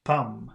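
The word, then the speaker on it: pomme: should be pronounced and we've got p-o-m-m-e which should be pronounced Palm so no they sound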